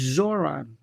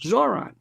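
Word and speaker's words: Zohran: It's Zoron. Zo H R A N. Two syllables. Zoron. Mom or ma'am Donnie.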